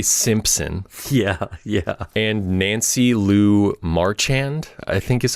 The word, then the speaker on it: Marchand: and Nancy Lou Marchand, I think is how you say her name, who plays Tony Soprano's mother.